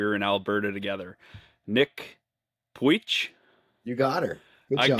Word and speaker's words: Pujic: I want to see if I can get your last name pronunciation right from what you told me when we were in Alberta together. Nick Puich, you got her.